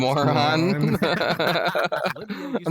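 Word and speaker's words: Mörön: Sadly, it's pronounced Moron.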